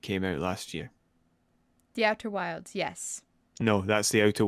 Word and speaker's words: Outer Wilds: I would like to state the fact that I keep mispronouncing the title of Outer Wilds. I keep calling it Outer Worlds. It's Outer Wilds.